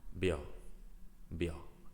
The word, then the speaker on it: vio: me to pronounce because in Spanish B and V is the same pronunciation.